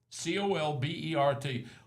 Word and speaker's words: Colbert: there's a county that's spelled C O L B E R T. C O L B E R T. Everyone would call that Colbert. C O L B R T. It's Colbert.